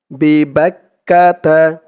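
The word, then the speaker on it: بِبَكَّةَ: জালের উচ্চারণটা করার সময় বিবাক্কাতা বিক বা দিয়ে কাফ ধরবে বা কাফ জবর বাক কাফ জবর কা বাক্কা বিবাক্কা তা বিবাক্কাতা লাজি বিবাক্কাতা মুবারকা মু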